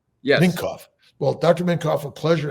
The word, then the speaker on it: Minkoff: Is that pronounced correctly? Yes. Minkoff.